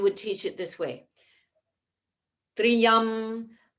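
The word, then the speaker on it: त्र्यम्बकम्: pointed out that it's important not to make that two different syllables it should be only one but if we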